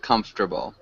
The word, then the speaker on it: comfortable: uh one small thing comfortable we don't really pronounce that second o so it just sounds like comfortable like that can you repeat that